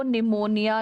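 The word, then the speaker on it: pneumonia: form होता है pleuro निमोनिया like organism PPLO का फुल फॉर्म है पी फॉर प्लूरो फिर पी फॉर पी साइलेंट रहता है पर निमोनिया बोलते हैं तो निमोनिया प्लूरो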